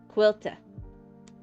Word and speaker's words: Quilta: And then this one is Quilta. It almost sounds like quilter with a funny accent.